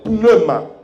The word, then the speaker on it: pneuma: Il s'écrit Roua. Et du grec, on l'appelle pneuma.